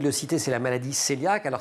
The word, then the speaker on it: cœliaque: Le premier, vous venez de le citer, c'est la maladie cœliaque. Alors ça s'écrit C-O-E dans l'eau, L-I-A-Q-E, mais ça se prononce cœliaque.